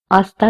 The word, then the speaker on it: hasta: say to that person, hasta luego. The H again, it will be silent.